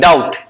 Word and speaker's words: doubt: DO, नहीं, इसका spelling गलती है, इसका स्पेलिंग ये होता है DOUBT, DOUBT, डाउट। इसमें से बी साइलेंट है।